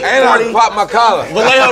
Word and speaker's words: Vallejo: Vallejo rhymes with say Every time these niggas say that's something, I what it is.